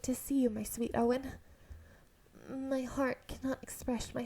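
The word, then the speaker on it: Eoghan: uh shinji's prince name which is prince owen in irish even though it's spelt like eogen but it's owen and then this woman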